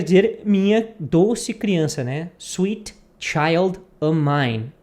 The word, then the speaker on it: Sweet Child O' Mine: que seria aqui né o f ele não fala a pessoa pode falar Sweet Child of Mine mas como se fala uma um ritmo normal de conversação a pessoa vai dizer Sweet Child O'Mine por exemplo eu falei